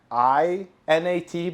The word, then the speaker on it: inat: Yeah, it's actually spelled in like I-N-A-T, but at the boot camp we wrote it E-N-A-T because you would pronounce it like we would say it, inat with an E, right?